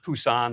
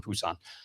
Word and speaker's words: Busan: Back then, we pronounced it Busousan. Little change of pronunciation. Busousan Busan.